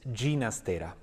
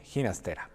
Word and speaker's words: Ginastera: region in northeastern Spain in Catalan language the correct pronunciation is ginastera but most people in Argentina like myself call him hinter hasta was born on